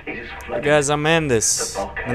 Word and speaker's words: Mandus: is flood guys I'm mandis my name is m the children are kind of sounds like Madness so don't say it right cuz I'm not Madness I'm I'm I'm pretty